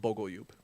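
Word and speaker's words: Bogoljub: Yeah, it's pronounced Bogalube.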